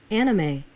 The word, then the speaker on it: anime: 그래서 제가 어물어물 할 게 아니고 anime, anime이라고 하면 되겠네요. anime 맨 앞에다 액센트 들리고 마지막은 a 빠르게 anime이라고 그러네요.